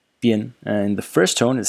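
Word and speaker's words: 编: So the first character is pronounced bian, bian, and the first tone has several meanings, at least four that I found.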